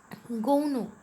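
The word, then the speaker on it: গৌণ: गौनो मुख्य और गौण्य, ये है संस्कृत जो शब्द है। तो गौने, इसको ही हम बांग्ला में उच्चारण करते हैं गौनो ऐसे।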